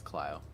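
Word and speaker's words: Clio: So I don't know if Ryan mispronounced that, but Cleo. Yeah. Cleo. It's It's Cleo.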